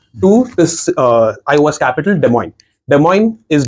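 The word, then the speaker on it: Des Moines: this uh iOS capital de moin de MO is d m oi n the pronunciation is French that's why it's called de moin okay um that is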